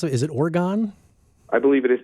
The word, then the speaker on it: Orgone: pronounce it is it orgon I believe it is pronounced orgon like you like you're mispronouncing organ basically okay I had a